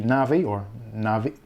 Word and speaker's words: Navi: So hopefully, fingers crossed, the Radeon 7 will be the last of that whole architecture, and we can look forward to the Navi, people pronounce it different, but I call it Navi.